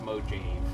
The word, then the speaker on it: Mojave: It's pronounced Mojave, actually.